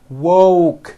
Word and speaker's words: woke: here's what you do to say the word woke first say wo with the w sound at the beginning and at the end and then you just add the k sound C wo C like that put it together and you've got wo woke I just woke up